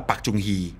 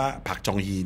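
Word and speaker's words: 박정희: ผู้ นำ ทหาร อย่าง ภาษา ไทย เรียก ว่า ปักจุงฮี ปักจุงฮี อ่า เรา อาจ จะ เคย ได้ ยิน ชื่อ นี้ ภาษา เกาหลี อ่าน ว่า ผัก จองฮี เนี่ย นะ ครับ ก็ เป็น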